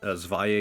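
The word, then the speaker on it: Zwei: Cyber Dragon, Dre, regular Cyber Dragon again, Zvi again, Dre again. I pronounce it Zvi because that's how I've just heard that name pronounced whenever you see it pull up. Maybe I'm saying it weird.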